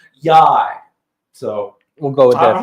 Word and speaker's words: YY: And then it's spelled YY, and the manager for the team basically said it rhymes with high. So I'm thinking it's Yai.